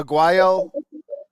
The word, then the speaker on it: Aguayo: Oh yeah, Aguayo.